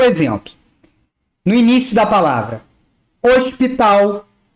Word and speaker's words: hospital: O H no português, quando começa uma palavra, ele é mudo. Ele não é pronunciado.